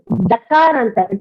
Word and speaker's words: दकारान्तः: No, it's not correct. It is dakaranta. How do you pronounce THE?